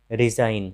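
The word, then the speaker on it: resign: तो जब जी के बाद एन आता है तो जी का उच्चारण नहीं होता है। जैसे देखिए डिज़ाइन, रिज़ाइन, रिज़ाइन मतलब इस्तीफा देना।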